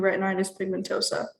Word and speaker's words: retinitis pigmentosa: I am 19 years old, and at the age of 5, I lost my vision to retinitis pigmentosa. How do you pronounce that?